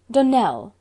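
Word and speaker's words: Donnell: Dunell, accent on the last syllable, and St.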